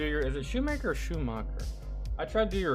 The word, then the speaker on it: Schumacher: I know it's shoe. All right, what is up? Hey guys. Ew. Schumacher.